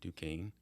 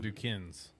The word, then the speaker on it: Duquesne: Pittsburgh at Duquesne, and Not Duquesne's. Not Duquesne's. It's the Dukes, isn't it? It is the Dukes. But it's spelled like Duquesne's. It's- yeah. So if you're not in the know, Yeah. Got a Q in there.